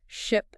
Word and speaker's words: ship: For example, let's take the words ship and sheep. Okay. They differ only by the vowel sound. Right. Ship has a short I sound. Yes. And sheep has a long E sound.